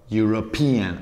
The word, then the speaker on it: European: sílabas ella en sand europe european ahí cambia la sílaba europe european chain chinese también